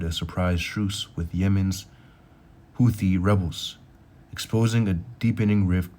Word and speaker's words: Houthi: Houthi truce splits allies. See how you, making sure I pronounce this right.